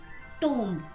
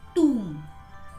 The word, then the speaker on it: tomb: We generally pronounce it tomb, right? But the correct pronunciation of this word is tomb.